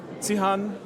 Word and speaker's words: Zihan: So Zihan, yes, and Xiaoyu, Hu. Yes.